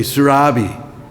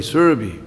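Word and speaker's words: Surabhi: thing to notice here the a in in survey is a short a it's not a long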